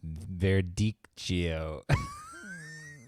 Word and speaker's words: Verdicchio: Verdicchio. Verdicchio.